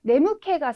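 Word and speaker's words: 眠気: 네무케가 스루 같은 경우에 뭐 졸립다라고 하는 의미로도 쓰실 수 있으시니까요. 네, 캐라는 발음도 꼭 기억을 해주시고요.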